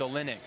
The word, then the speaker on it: Olejnik: It's a silent J. Just so any other Flow commentators are checking him out, it's Olejnik.